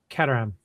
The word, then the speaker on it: Caterham: Set number 14 is I always forget how to pronounce this right. Caterham or Caterham? Caterham.